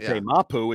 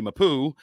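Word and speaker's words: Marte Mapu: than we say it Marty mapoo yeah mapu is how we say it he says Marty mapou um that guy the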